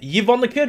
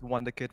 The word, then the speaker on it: Wonder Kid: First off, how is your name pronounced? Yvonne the Kid or Wonder Kid? It's Wonder Kid, my guy.